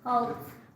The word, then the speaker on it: Holtz: Holtz. Holtz. Holtz. Think the hull of the ship.